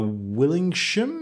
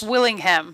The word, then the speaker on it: Willingham: i believe by Travis willing shim is that he pronounced you sent a memo critical role travis willingham Willingham that's right yeah so will the